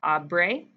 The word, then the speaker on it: habré: It changes to H-A-B-R. So it's pronounced abre, abras, abra, abremos, abres, and abran.